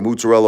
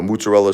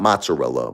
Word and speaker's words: mozzarella: The ma the the mozzarella all over the French fries. They hook you up and um you know mozzarella sticks. And that's how you say it in Brooklyn. Mozzarella. Not mozzarella. Mozzarella.